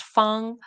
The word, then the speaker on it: Fang: So, it says in Mandarin it's pronounced fun, but I want to see how it would be pronounced in other dialects.